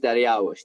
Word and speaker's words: Dariush: Well, as you speak to Assyrians, they'll be like, "It's Dariush." They don't even ask me. Yeah, I was born in Iran, so people Dariush is the way they say it because they had a king named Dariush.